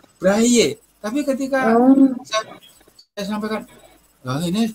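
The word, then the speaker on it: Braille: buta itu kan tulisannya braile Iya heeh itu Kan berasal dari bahasa Prancis jadi membacanya kan bukan brail tetapi anehnya lembaga yang berurusan dengan kegiatan itu Bray membacanya Bray itu braye Tapi ketika saya sampaikan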